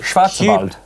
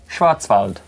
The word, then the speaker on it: Schwarzwald: daniel yeah in the black forest in germany schwarzwald that's how you say it black forest in germany say it again schwarzwald yeah you've wall well there you go afterwards